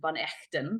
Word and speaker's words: Van Echten: So Van and then Echten. It's a Dutch last name and it's my husband's last name, Van Echten, if you want to pronounce it properly.